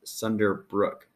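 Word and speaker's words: Sunderbruch: really don't know so i was told it's pronounced sunder brook so if you're that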